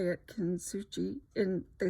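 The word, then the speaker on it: Kintsugi: Kitsugi. And they said the Japanese, actually the S is silent. Kitsugi.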